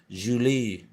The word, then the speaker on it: Julie: Said Herzl gaily to his wife, pronouncing her name in the French manner, Julie.